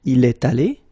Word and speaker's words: est allé: You've got this little liaison between the two. Il est allé.